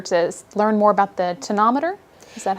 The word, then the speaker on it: tonometer: Okay, and I think today we're here in particular to learn more about the tonometer. Is that how you say it? That's right. So what I have here is the tonometer, or the tonopen, which we use to measure intraocular pressure in flight.